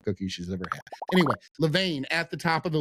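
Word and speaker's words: Levain: Anyway, Levane at the top of the list.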